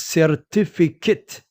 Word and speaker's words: certificate: The correct pronunciation is certificate. It is not certificate. There is no word in English that is certificate.